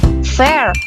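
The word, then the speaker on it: fare: yang penuh emosi dan cara bacanya itu in general We call this Fair jadi r-nya itu lebih lembut dan engak terlalu ditekan ya Fear The Second word is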